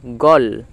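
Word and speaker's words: gall: যাওয়া তারপর আছে দেখো গল জি এ ডবল এল গল গল মানে পিত্ত জি এর জন্য গ আর এতে অ তাহলে গ আর ডবল এল এ ল গল গল মানে হচ্ছে পিত্ত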